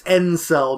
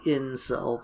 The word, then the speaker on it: Encel: Yeah, it's Encel, not Incel, but it's close enough.